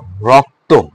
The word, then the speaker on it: রক্ত: উদাহরণে দেখো রক্ত, রক্ত শব্দের শেষে যুক্ত বর্ণ আছে, কিন্তু দেখো যুক্ত রয়েছে, ক এবং ত যুক্ত রয়েছে। এই যুক্ত অবস্থায় যদি অ উচ্চারিত হয়, দেখো রক্ত, অ একটা উচ্চারণ আসতেছে না? অ, এটা যেহেতু যুক্ত বর্ণ আছে, উচ্চারণে সেটা হবে ও। সে কারণে দেখো উচ্চারণ কি র, ক হসন্ত, ত ওকার, তো, রক্ত।